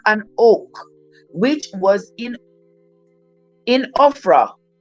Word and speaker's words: Ophrah: oak, which was in Ophrah. Oh, this almost spelled like Oprah, but it has an H, an extra H, so it's Ophra.